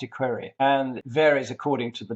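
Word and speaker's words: equerry: Marines at that time the equery is pronounced equery and varies according to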